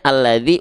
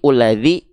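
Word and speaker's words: الَّذِي: Maka di sini dibacanya alladzi, uladzi, atau apa? Kalau dia setelahnya lam, pasti alladzi, pasti a, gak mungkin u.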